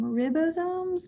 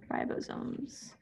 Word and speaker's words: ribosomes: called ribosomes um and you might be tempted to call them ribosomes but the syllable divides after the eye so it's rye ribosomes um i think that's